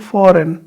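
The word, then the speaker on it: foreign: बोलेगा असाइन ठीक है फौरन इसको जी आ रहा है लेकिन साइलेंट फौरन ठीक है ठीक है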